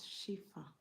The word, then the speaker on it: Shifa: Channel please where is I pronounce my name as shifa shifa the other name is